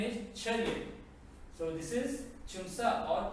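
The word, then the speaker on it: 차렷: Pronunciation is Chariot.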